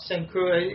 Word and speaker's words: Saint Croix: And I'm wondering if that big 4.2-ton cocaine bust near Saint Croix, we call it Saint Cruz.